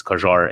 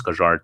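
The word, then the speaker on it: Kjær: pronounce uh kier stevie p has his own pronunciation maybe you're new here but it's kajar it's kajar to uh just like channel blue but yeah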